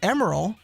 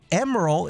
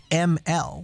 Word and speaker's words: Emerl: let's talk name pronunciation i had been referring to emeril as emerald all my life because those are the letters i see in the name m er o e-m-e-r-l and that's definitely what's said in the japanese version as well emeril is the pronunciation that is used in the tms produced version the original japanese version